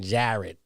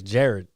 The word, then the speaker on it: Jared: know for sure but they always say my name Jared yeah yeah that's sound dude not jar is Jared I know your name